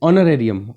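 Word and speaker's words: honorarium: अगर district head की बात करें तो पर मंथ हॉनरेरियम कितना मिलता है, that is ऑनरेरियम, H silent रहता है, ऑनरेरियम is around 9,000 rupees per month, ठीक है।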